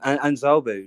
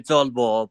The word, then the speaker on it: Zolbo: Yeah, it's actually Zolbo, but that's fine.